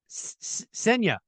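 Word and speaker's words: Ksenia: Senya. Close? Yes, perfect, actually. Yes! Yes, thank you. The K is silent. K is silent, yes.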